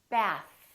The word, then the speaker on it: bath: Bath. Keep your tongue out. Don't rush. Don't bring it back in.